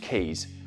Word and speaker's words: k3s: kubernetes is maturing nicely now then k3s sometimes pronounced keys let me tell ya the is cool but